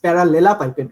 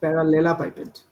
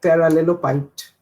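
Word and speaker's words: parallelepiped: It's parallelopipette, right? Yeah, it's parallelopipette. It's the spelling is really weird. I heard people saying like parallelopiped.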